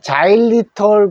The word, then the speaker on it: xylitol: 자로 시작하는 단어입니다 요게 X 자로 시작하는 단어는 g 소리가납니다 g 자 그래서 우리가 자일리 검이라는 것이 있죠 그 자리이 자리자리이라고